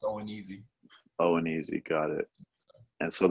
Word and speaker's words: ONEZ: It's that's pronounced O and easy.